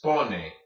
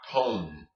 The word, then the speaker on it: pone: And remember, Spanish does not have an E as a silent letter at the end of the word. This is pone, not pone, okay?